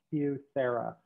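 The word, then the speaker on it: QSEHRA: us so we finally found this program called cusera which that let me see if i get this right qualified small employer health reimbursement account that is it's pronounced hugh sarah q s e h r a um and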